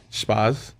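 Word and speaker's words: Spaß: they fun so i'm trying to say it spas yeah how do you spell it s p a and then s set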